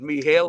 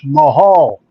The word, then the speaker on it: Mihal: Probably pronounces it Mihail or Mihail. Mahal. It's pronounced Mihal. Mahal. No, Mahal. Mohol, what? It's pronounced Mahal.